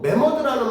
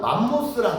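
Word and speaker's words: mammoth: 매머드랑 맘모스랑 같은 말이야? 알았냐 몰랐냐? 알았죠. 내가 언젠가 한번 얘기해준 것 같은데 아니야? 왜냐면 맘모스는 매머드를 스펠링으로 따지면 매머드를 그 흔히 말하는 콩글리시 발음으로 하면 맘모스가 되는 거야.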